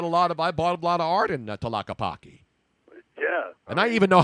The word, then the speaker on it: Tlaquepaque: I bought a lot of art in Tlaquepaque.